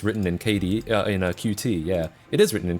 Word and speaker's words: Qt: I always pronounced Qt like cute. That is how you're supposed to pronounce it.